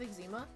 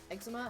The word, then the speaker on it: eczema: awesome like I have Exuma eczema however you wanna pronounce it I say Exuma I don't care who